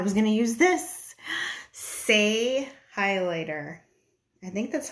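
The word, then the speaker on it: Saie: Say highlighter.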